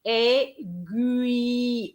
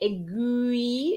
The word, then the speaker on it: aiguille: So it's going to be aiguille, aiguille. You have the U, aiguille.